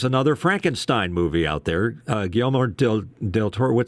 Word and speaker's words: Guillermo del Toro: Guillermo del Toro. How do you say his name? Guillermo del Toro.